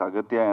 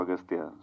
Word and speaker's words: Aghathiyaa: in the film uh your name is pronounced in different ways austa yeah in both ways it is pronounced it yeah it's aatya and also austa so I don't know